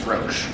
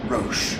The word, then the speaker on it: Roche: torch forward knowing that it's roach it's roche not roach but roche oh always be safe